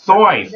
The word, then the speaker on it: Seuss: Seuss was born Theodore Seuss Geisel, but Seuss was actually pronounced Soyce, like to rhyme with boys.